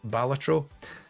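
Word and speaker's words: Balatro: um number four was ballat I don't I don't think I need to say much about batro everyone's gushed about batro it's really great but also critically it's pronounced batro um hell divers 2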